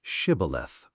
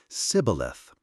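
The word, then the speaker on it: shibboleth: passages of the Jordan with instructions to let none pass who could not say Shibth. The Ephromites being of a different tribe could not frame to pronounce the word right, but called it cibilith, which proved them enemies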